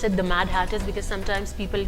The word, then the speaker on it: Mad Hatters: I'm glad you pronounced it the Mad Hatters, because sometimes people call it the Mad Haters or the Mad Haters.